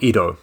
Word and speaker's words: Ido: Ido being the title of this film, you have I and Do, right?